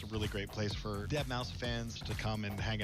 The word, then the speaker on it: Deadmau5: This is your good friend Joel, professionally known Normally as does his set Deadmau5. from inside a huge Yes, cube. that is the correct way to pronounce it.